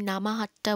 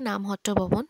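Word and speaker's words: নামহট্ট ভবন: হট্ট ভবন ঠিক আছে আমি নামা হাতটা বললাম ওখানে লেখা ছিল বলে কথাটা হচ্ছে নাম হট্ট ভবন বাংলায় উচ্চারণ করলে এটাই হয় তো ওখানে আগে থেকে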